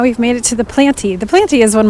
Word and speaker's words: Planty: I mean, I think it's called the Planty. That's how I think you pronounce it. But it's spelled Planty, P-L-A-N-T-Y.